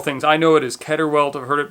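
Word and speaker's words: Keder welt: it's called several things i know it is ketterwelt i've heard it pronounced keterwelt also it's k-e-d-e-r but i've also seen it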